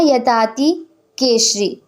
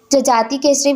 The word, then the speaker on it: जजाति केसरी: तो राजा यताति केशरी। ठीक है, जजाति केसरी भी बोला जाता है और ज को यह प्रोनाउंस किया जाता है उड़िया साइड में, तो इसे थोड़ा सा डिफरेंस हो जाता है।